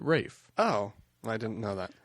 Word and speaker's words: Ralph: was Rafe that hm Ralph Rafe it's in Britain they pronounce it Rafe oh I didn't know